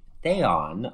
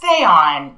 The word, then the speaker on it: Theon: her dad was named theon of alexandria yeah it's pronounced theon but it looks in writing like theon like game of thrones like yes it